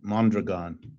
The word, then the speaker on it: Mondragon: the question yeah well let me correct you about mondragon uh that which is by the way how it's pronounced mondragon has multiple parts